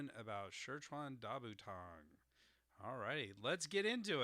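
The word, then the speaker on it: 十全大補湯: It's Shirchan Dabutang. So Shirchan Dabutang. So that's second tone, fourth tone, third tone, first tone. Shirchan Dabutang. That is the correct, or somewhat correct pronunciation, as correct as I can get it with the tone marks here.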